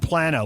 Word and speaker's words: Plano: Hey, we got Texans pronouncing it Plano and Plano. Which is it? It's Plano. It's Plano.